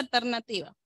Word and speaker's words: ALTNATIVA: tu emprendimiento alternativa redes escribe Art nativa Rd Art de la tecla de alterna Pueden seguir en instagram Art nativa Rd pero se pronuncia alternativa alternativa de voy a dejarles